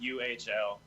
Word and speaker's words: Uhl: have to spell It that rhymes one with too. truly. It's not weird. It's just underscore Ewell. It's UHL. UHL.